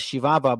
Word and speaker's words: Chihuahua: The Spaniards called the land of Ram Uri Chihuahua, pronounced as Shivava by the natives themselves.